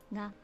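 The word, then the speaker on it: が: Ga. So this is ga. You pronounce it as ga. It's like ah.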